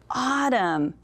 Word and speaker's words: autumn: But when we look at autumn, do you hear the N? No, it's like our little ghost. We don't say that, autumn. There's no N.